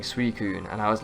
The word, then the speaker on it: Suicune: For me, Suicune, and if you pronounce it differently, I did too. Apparently it's Suicune. I said Suicune, I think.